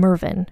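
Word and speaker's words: Mervyn: Castle Haven and again with British pronunciations it's probably like mvin tuck it but we're just going to call him mvin which is spelled just so you know with a y m e r v y n the Earl of Castle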